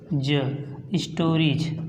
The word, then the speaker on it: stories: इसके बाद STORIES। देखिए IE है, यहाँ पे IE के बाद यस आया, इसलिए इसको पढ़ेंगे स्टोरीज।